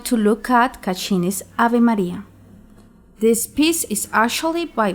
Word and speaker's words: Maria: In Latin, these are pronounced Ave Maria. Do not pronounce Maria the English way. The R should be rolled or flipped, like in Spanish or Italian, using your tongue against the palate, not the throat.